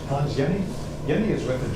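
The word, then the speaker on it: Jenny: Hans Yenni. Yenni is with a J. J E N Y. But in German it's pronounced like Y.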